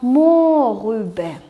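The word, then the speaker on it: Mohrrübe: Читается как морюбе.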